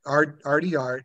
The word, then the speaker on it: RT Art: print shop is Art Arty art and it's spelled RT it's RT like the letter R the letter T and then art okay and their their website